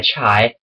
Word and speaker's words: chai: Iron Guard on by chai do not say chi cuz it's pronounced chai you need to you